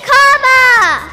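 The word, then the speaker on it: Kamala: Everybody over here say Kama. Everybody over here say La.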